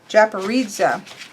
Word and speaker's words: Japaridze: Japaridze.